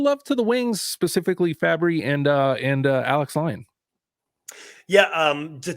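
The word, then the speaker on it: Fabbri: So is it Fabry? Yep. Is that how you pronounce it?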